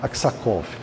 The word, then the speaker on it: Aksakov: Acho que é essa a pronúncia, Aksakov.